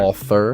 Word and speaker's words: Walther: it Walther LTD right Walther because I always see Walter I always see Walter